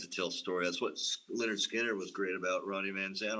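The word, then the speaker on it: Lynyrd Skynyrd: albums home and I think he brought home pronounced Leonard Skinner the first album before Sweet Home Alabama hit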